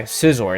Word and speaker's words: Scizor: Scizor, it's Scizor, not Scizor.